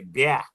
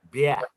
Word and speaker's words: bien: We say, in French, we say bien. Bah. Bien. Like, yuck. Yeah. Bien.